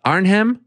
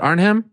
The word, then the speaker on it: Arnhem: glory collision three it's tell me how to pronounce this uh arnhem is it arnhem yeah it's gonna be in arnhem in the